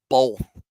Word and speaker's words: both: y'all say the word both and or say the word both, but you pronounce it like there's some L in there.